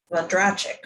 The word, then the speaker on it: Vondrachek: I heard him say it this morning and I already can't remember, but the emphasis is a little different. It's like Vondrachek or something.